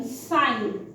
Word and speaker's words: sign: G हमेशा साइलेंट होता है N के साथ, जैसे कि SIGN, साइन।